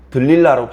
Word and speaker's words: 들릴라: 고대 히브리어의 모음을 발음하는 방법에 따라서 들릴라로 발음할 수도 있고 데릴라로 발음할 수도 있습니다.